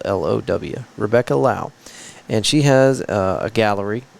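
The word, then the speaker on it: Low: going on, but I did run into Rebecca Lau. It's spelled L-O-W. Rebecca Lau.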